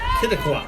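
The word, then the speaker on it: Quituqua: Pronounced Kittigwa.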